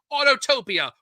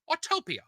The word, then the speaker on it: Autopia: the wizard of bras autotopia or the disney gallery which are autopia autopia autopia that's how you say it folks is it shrek's castle